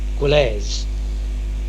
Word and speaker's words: gwlas: in reality quite simple, because the W between the G and the L and the G and the R is barely voiced. For example, Cornish word GWLAS, Gwles, Gwles, meaning a nation, and